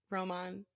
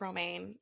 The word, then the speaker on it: Romain: say his name Roma Roman yeah grosjean grosjean his name looks like romaine and I think about romaine lettuce because I think this is fine yeah but Roman but it makes me